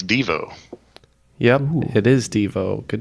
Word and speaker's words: Devo: No exclamation point it's Devo yeah it is Devo good job guys somehow Neil pulled that one out well I know it's per supposed to be pronounced DeVoe so I just I